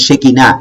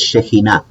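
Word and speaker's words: שכינה: No es Shekinah, es Shekinah, ¿ya? Porque lleva ahí una shin, como ustedes están viendo acá, y una het, ¿ya? Esa palabra se pronuncia como J, ¿ya?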